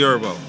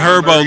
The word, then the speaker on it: Herbo: How did you and Herbo look up? Herbo. The H is silent.